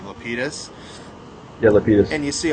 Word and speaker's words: Lapidus: Lapidus.